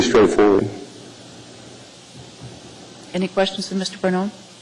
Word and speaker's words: Pannone: Pannone? It's Pannone. I can spell that for you. It's P as in Papa, A-N-N-O-N-E.